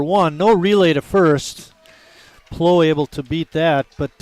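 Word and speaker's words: Pleau: name p-l-e-a-u and uh bill and I were discussing prior to the start of the game how we want to pronounce that and uh Bill talked about uh you know the French sound of a name like that would be oh so we went with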